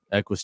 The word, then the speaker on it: Equus: They were like, there's no O in there, Nick.